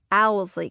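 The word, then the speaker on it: Owsley: And that's how Alsley County is pronounced, Owlsley County. The order of the letters in the word doesn't really matter.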